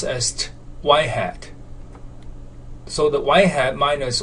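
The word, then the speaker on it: ŷ: predicted value of y and this notation is pronounced as y-hat so the y-hat minus y which is the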